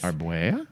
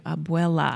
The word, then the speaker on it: abuela: They also had a recording of their grandmother in her own voice Arbuea? telling them what to do. Abuela.